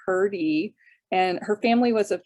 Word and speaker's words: Hrdy: unusual name um olinka hurdy h-r-d-y which is pronounced herdy and her family was of check descent in